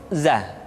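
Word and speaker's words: ز: Selanjutnya huruf za diucapkan dengan cara ujung lidah kita berada di antara dua gigi seri bagian atas dan bagian bawah. Za menyerupai dengan pengucapan huruf Z di dalam huruf Latin.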